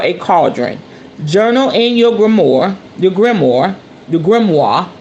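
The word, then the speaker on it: grimoire: cauldron journal in your grimor your grimor the Grim that's how you say it grimo that is your um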